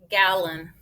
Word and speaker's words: gallon: so i'm going to divide it gallon gallon nope it got schwab gallon gallon like a gallon of milk it's a measurement of